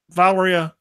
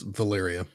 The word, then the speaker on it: Valeria: you got you got Valeria Richards did I pronounce it right no it's Valyria little area I got it wrong sorry as dr.